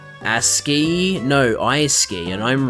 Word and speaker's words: ASCII: That's like SC being pronounced as sk, so that like the logic goes both ways. But the fact of the matter is, it is pronounced ASCII.